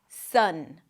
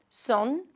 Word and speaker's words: Sunday: The first syllable is the primary stress, so it's going to be longer and louder.